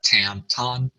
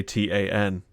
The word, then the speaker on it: TAN: Anyway, what it is they want you to say TAN.